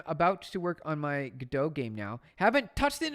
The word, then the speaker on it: Godot: Yeah, I'm about to work on my Godot game now. Haven't touched it in a while. Hey, there you go. That's the way to do it. Get the Godot going.